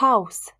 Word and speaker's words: Haus: En position finale, par contre, le S est sourd, c'est-à-dire que sa prononciation ne comporte pas de vibration des cordes. Das Haus, la maison.